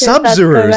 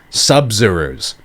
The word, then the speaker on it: Sabzeruz: Sabzeruz? Oh, it's Sabzeruz, like Sub-Zero. Sabzeruz.